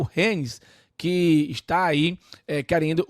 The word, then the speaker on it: Rennes: Acho que é Rennes a pronúncia correta, né?